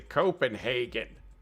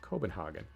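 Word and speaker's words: København: because i'm an american i would say copenhagen but it's not copenhagen it's cobenhagen hogging all right so what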